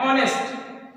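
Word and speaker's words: honest: Okay, तो यहाँ पे क्या लगाएंगे, एन, ही इज एन ऑनेस्ट person. नहीं समझ में आया, ये आगे एच लगा होने के बावजूद इसका शुद्ध प्रोनाउंसिएशन है ऑनेस्ट, और ऑनेस्ट में आगे आ रहा है आ।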